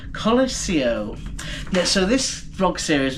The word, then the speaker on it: Colosio: Not I keep calling it the Colosseum, it's the Colosio.